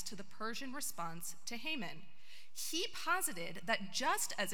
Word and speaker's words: Haman: in the wilderness and Hammond the Hebrew pronunciation of Haman one of one of